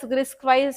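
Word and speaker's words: RISC-V: Yeah, it is RISC-4, pronounced as RISC-wise set of basic instructions that a processor understands.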